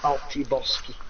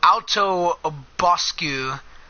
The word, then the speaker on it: Alto Boscu: He pronounced the name in his usual way, careless of the finer points of Iberian pronunciation. The town in question was actually Alto Boscu, a relatively unimportant market